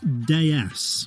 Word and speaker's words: DS: be ready to go the name in French citron's home country is pronounced de es which means goddess the DS was built